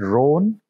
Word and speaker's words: Rohn: Rohn, for anybody else who cares, it's rhymes with stone, which is maybe something we might like to do.